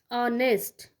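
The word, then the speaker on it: honest: क्यों, क्योंकि उसका साउंड क्या आ रहा है, ऑनेस्ट. एच इज़ the silent, है ना.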